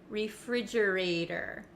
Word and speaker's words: refrigerator: end of this word it becomes a flap T in American English that means it kind of sounds like a soft D sound refrigerator refrigerator refrigerator it's the same as